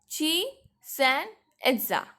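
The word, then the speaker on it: Chichén Itzá: ची देखो, इट इज tough to pronounce, so you have to block the little word and pronounce it. Fine. Chichen Itza.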